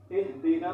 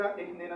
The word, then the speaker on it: اهدنا: گے، اهدنا الصراط المستقیم۔ اب ان میں بعض حضرات اس ہا کو، یہ موٹی چشمے والی ہا ہے، اس کو جو ہے جو باریک ہا ہوتی ہے، ہا کو جو ہے ہا سے تبدیل کر دیتے ہیں اهدنا الصراط المستقیم۔ یہ بھی لحن جلی ہے، ایک حرف کو دوسرے حرف سے تبدیل کرنا یہ غلطی حرام ہے۔